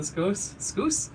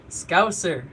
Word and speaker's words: Scouser: I always think it's Scoos, the Scoosers. I try to say it like Patty, because I think that's how you say it. Scouser. Okay, so I got Ash over here saying Scouser.